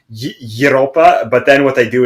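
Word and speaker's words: Европа: is pronounced in uh in Russian it's kind of like Europa but then what they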